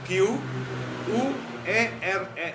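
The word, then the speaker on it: querer: Contohnya kalau bahasa Portugis mau itu tulisannya Q U E R E R. Dibaca quere. R-nya nggak kedengeran belakangnya.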